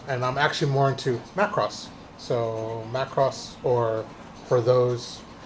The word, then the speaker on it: Macross: into um Mecca and I'm actually more into Macross so Macross or for those that like the correct pronunciation is makuros um so uh yeah I like that that's